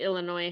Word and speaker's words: Illinois: Illinois and it's obviously Illinois had Native Americans and it's very ingrained in our culture there and we don't pronounce the S but when the movie